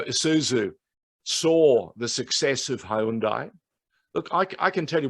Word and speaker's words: Hyundai: saw the success of hyundai look i can tell you when we started the telecasts in australia and they it was the hyundai a-league people were saying the hyundai no no i said hyundai they couldn't even pronounce